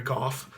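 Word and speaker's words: Geoff: mention I did say my name is Gulf and that's how i pronounce it Gulf geo FF so if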